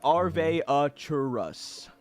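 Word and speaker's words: Arveiaturace: send it to chat's apparently pronounced AR veatrice or aratus um but I am unsure but I will label arv arvus arvus uh Arvy arv sure for short it's arve aurus according to Forgotten Realms Wiki aratus uh and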